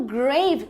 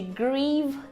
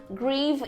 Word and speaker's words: grieve: Ele pronunciou como grave, que significa tumba, né? Mas na verdade essa palavra aqui tem a pronúncia de grieve, grieve, e como verbo significa ofender, afligir, enfim, dependendo do contexto.